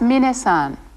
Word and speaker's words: minna-san: is those Irish good thank you that was minna-san be sure to pronounce his name minute not mine next see